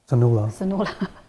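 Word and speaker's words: Sonulla: no can you tell me my name it is spelled s o n u l l a um sonaa okay I see I never heard that I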